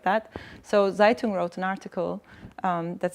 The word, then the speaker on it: Zaytung: It's called Zeitung, as reference to Zeitung, but that's spelled Zaytung.